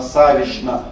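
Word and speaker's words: Саввична: Ильинишна, Никитишна, Фоминишна, Савишна обязательно с ша-н произносится. Пишутся с чн, произносятся с шн.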